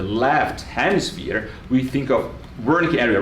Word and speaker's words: Wernicke: And Wernicke should really be pronounced Wernicke, and Broca should be really pronounced Broca.